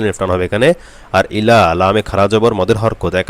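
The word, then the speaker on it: إلا: লা ইলাহা ইল্লা হুয়াল ইল্লা ইল্লাতে এক আলিফ টান হবে এবং হুয়াল এই ওয়াও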